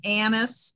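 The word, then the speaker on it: anise: it in see that's that's my french that's my um knowing how to speak french so i guess i'm saying it the french way sorry no problem and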